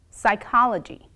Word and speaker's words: psychology: like book but is sometimes silent we don't pronounce when it begins a word and is followed by the letter s for example psychology pseudonym psychological the is also silent at the